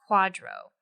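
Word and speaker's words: QDRO: you could also Al obtain what's called a Quadro that short for qualified Domestic Relations order and of course the acronym is QD o but it's pronounced Quadro so you may be eligible for part of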